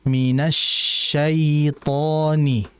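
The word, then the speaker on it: الشيطان: Jadi mad lin itu adalah ya mati. Sebelumnya ada huruf harakatnya fathah. Jelaskan i. Minasyaitani. Minasyaitani. Jangan seperti imalah. Minasya syait syai syai. Jangan syai yang betul syai ii ya.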